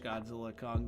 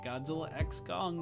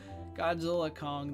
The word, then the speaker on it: Godzilla x Kong: I've been calling it Godzilla X gong the new Empire but I guess the x is silent so Godzilla Kong the new Empire it